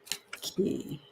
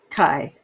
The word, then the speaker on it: Kai: Key. I can't believe they'd call it she. Or key. Kai. Oh, thank you for it. It's Kai. It rhymes with pie.